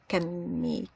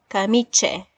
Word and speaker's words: camice: Camiche? I hope that's correct. Wrong spelling. I'll keep this in mind. Sometimes I get confused with the pronunciation system. Camice, not camiche, camice.